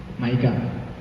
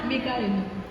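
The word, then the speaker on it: Micah: సో అన్న ఏం మైకా, Moab, Mariya, అమ్మ మోజెస్, ఆ, మికాయల్, మిక్కీ అంటారా? మీకా, ఆ, మైకా మీకా రెండు pronunciations.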